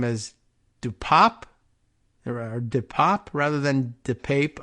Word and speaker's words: DePape: does Paul Pelosi's assailant pronounce his name as Dupop? Or Depop rather than Depape. I don't know. I was wondering whether they might have anglicized it over the years. And he says Depape, but it should be Depop.